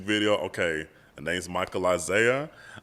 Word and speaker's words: Izayah: Okay, the name's Michael IZAYAH. It's I-ZAYAH, just to let everybody know it's not like how it's spelled in the Bible, so it's different.